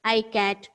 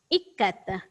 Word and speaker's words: ikat: Some students pronounced it as I-cat, E-cat. No. The exact pronunciation is ikkat.